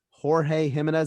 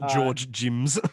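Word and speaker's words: Jorge Jiménez: drawn by jorge jimenez jorge jimenez that's how it's pronounced on there yes not george jims um uh the art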